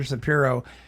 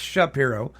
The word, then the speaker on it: Shapiro: to Peter uh Peter sairo um uh in fact I think I'm pronouncing that wrong it's Shapiro Peter Shapiro uh for